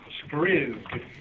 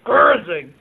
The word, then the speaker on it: Skriz: Now, how do you pronounce his name? Skriz. Skriz. Yeah, I was going Skrzig. But I like Skriz better.